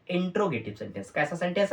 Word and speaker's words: interrogative: लिखा हुआ है, INTERROGATIV, इंट्रोगेटिव सेंटेंस। कुछ बच्चा इसको इंट्रागेटिव पढ़ देते ना, इंट्रा नहीं है मेरे भाई, अगर आप प्रोनाउंसिएशन गलत करोगे तब तो गड़बड़ है। ये इंट्रागेटिव नहीं है, ये इंट्रोगेटिव है।